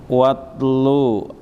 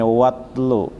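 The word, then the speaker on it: وَاتْلُ: Watlu alaihim, asalnya huwa dan utlu, karena alif hamzahnya wasal jadi dibacanya watlu.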